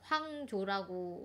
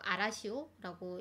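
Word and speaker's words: 荒潮: 황조라고 우리가 읽을 수가 있는데 황이 황무지할 때 황자고요. 그 다음에 조자가 그 조수 간만할 때 조자거든요. 그래서 뭐 일본어로 읽으면 아라시오라고 읽을 수 있는데 이런 제목의 또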